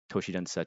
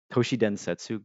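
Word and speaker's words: 都市伝説: Toshi denset to toshi densetsu. Great. I mispronounced it even as I'm trying to talk about it.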